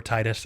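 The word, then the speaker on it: Tidus: on G4 making fun of Titus's laugh, or Titus. I really prefer Titus, but I know Titus is the proper pronunciation, but it's just, I don't like it.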